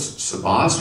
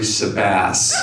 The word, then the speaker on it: Sabas: Sabas and I'm like oh it's Sabas we've been mispronouncing it well then I talk to Jennifer today and she says it's actually sebass and it's just seems